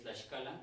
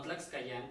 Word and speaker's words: Tlaxcala: Pero al final de cuentas se modificó y pues ahorita es como Tlaxcala, originalmente es Tlaxcala, no Tlaxcayán como muchos acostumbran a decir, Tlaxcala, y de ahí se modificó y ahorita pues ya se le conoce como Tlaxcala, ¿no?